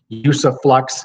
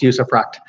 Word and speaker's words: usufruct: that's how it's pronounced sometimes people want to put an s on the end use of rocks but it doesn't have an S on the end it's use effect and it here in